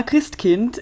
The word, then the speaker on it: Christkind: it is well yeah Krist Kint is the way that it's pronounced so Kint like Kinder you know Kinder Garden